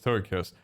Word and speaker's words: Togekiss: To how do you pronounce toga kiss? It's toga kiss.